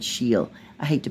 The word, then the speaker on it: Scheel: I think I said her name was Shell, but I think she said Sheel.